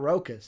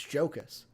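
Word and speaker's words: Jokić: you said it wrong it's not rocus it's jokas you son of a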